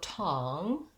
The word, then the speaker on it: tong: So tong, I'm going to still have that NG sound.